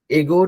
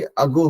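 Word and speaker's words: ago: बोले थे ना कि एगो नहीं हो कि अगो होता है, ए से स्टार्ट होता है, उसका प्रोनाउंसिएशन अ होता है, अगो, अवेयर, है ना।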